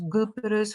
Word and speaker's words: Cyprus: And as you see from the examples, Cypriot Turkish will pronounce Gyprus for Cyprus, Gardash for Kardesh, Tatlı for Tatlı, Tades for Tades.